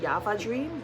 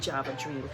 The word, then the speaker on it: Java Dream: If if if you're a person that pronounces your J's to Y's, if you're in that language category, then you'll probably say Java Dream. But for us, we say Java Dream.